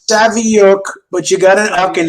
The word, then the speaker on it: Saviuk: do it right cheers very very close it's Savvy Oak but you gotta knock in there and that's not bad okay it's better than savik and Savino and Savio and savoik and I could come up with at least